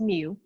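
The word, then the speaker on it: μ: set and for the second equation you have mu it looks like au but it's not and it's pronounced mu and it's the main of all the values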